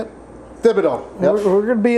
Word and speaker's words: Thibodeau: Thibodeau.